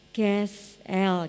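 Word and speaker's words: כְּסִיל: bebal kalau bebal itu bahasa aslinya itu misalnya seperti itu bacanya kessel gitu artinya do bodoh keras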